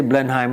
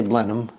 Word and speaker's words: Blenheim: So we don't say Blenheim, we say Blenheim. Kind of like the H and the E disappeared.